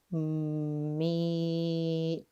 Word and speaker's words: meat: This is an EA vowel team. Remember that our A is silent. E says his name. E.